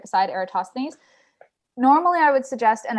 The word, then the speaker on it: Eratosthenes: yay thanks dave i get bonus points for pronouncing eratosthenes correctly i spent a lot of time on